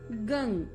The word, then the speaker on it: गं: गण के आदि अर्थात ग कर पहले उच्चारण करें, उसके बाद वर्णों के आदि अर्थात अ उच्चारण करें, उसके बाद अनुस्वार उच्चारित होता है। इस प्रकार अर्धचंद्र से सुशोभित गंग उकार से अवरुद्ध होने पर आपके बीज मंत्र का स्वरूप ओम गंग है।